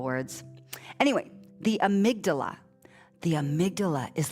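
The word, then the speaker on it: amygdala: there's a p-shaped thing called the amigdala four syllable words body we collect four syllable words anyway the amydala the amydala is like a detector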